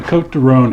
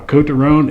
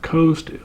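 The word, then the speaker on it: Côtes du Rhône: of the region now coat toone it is not Coast or coat like an Overcoat it's co T and there's a little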